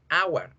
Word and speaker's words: hour: En español la escribo con H, en inglés también, pero en ninguno de los dos casos suena la H. Decimos hora, hour.